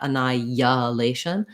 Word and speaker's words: annihilation: it in strongly not annihilation but it should happen naturally as i move between the vowels that's called vowel to vowel linking it happens a couple